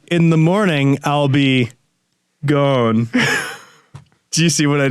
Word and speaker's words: Ghosn: the morning I'll be gone do you see what I did there do you see do you get it cuz Carlos guns name is pronounced gone and it sounds a little like gone in the morning I'll